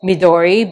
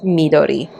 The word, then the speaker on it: Midori: I think for a lot of people they pronounce it as Midori but it is pronounced as Midori.